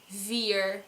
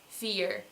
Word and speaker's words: vier: And secondly, our Dutch V is not as strong as an English V. So even if we do use a V sound, it won't be vier, but it will be vier. Or, like I said before, vier with a proper F sound.